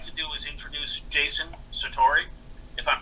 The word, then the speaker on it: Sartori: So what I'd like to do is introduce Jason Sartori, if I'm pronouncing it right, Jason? Sure. Sartori?